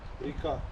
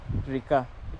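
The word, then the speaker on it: река: Rika. Rika.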